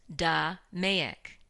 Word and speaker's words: DMAIC: analyze improve and control domayic is pronounced da mayak the model we will